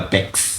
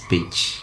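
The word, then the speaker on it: Pécs: In Kenyan ways, tunaweza ita PEX. PEX. Yes. PECS. PEX University, yes. Hungary. But the Hungarian way of saying it is Page.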